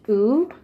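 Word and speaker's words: ㅜ: This one literally looks like a T in English letters, but it's actually pronounced oo. As you see, there's a moose, moo, oo.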